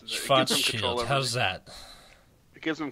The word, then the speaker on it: Schwarzschild: Schwarzschild. How's that? It gives them control over me. Man, it's not that I can't do a German accent, it's just that I read it like an American, and I forget.